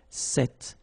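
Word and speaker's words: cet: it's quite interesting because if you listen carefully the masculine form here set and The Feminine form here set you write them differently but then you pronounce them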